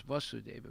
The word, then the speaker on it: Vasudeva: son of vasudeva and his name is vasudeva with a long a and his father's name is vasudeva with a short a so that means krishna